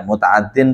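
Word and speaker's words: متعدٍّ: tulaun lazimun mutaaddin biarfin ya mutaaddin itu bacanya mutaaddin kalau di sini lazimun karena mutaaddin ini aslinya ada ya Ya aslinya mutaaddiyun tapi karena di situ mutal Ain jadi mutal lam jadi kitanya bacanya mutaaddin fi'lun tulayun lazimun mutaaddin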